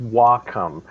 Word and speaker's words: Wacom: Yeah, according to Wikipedia, it's pronounced Wacom.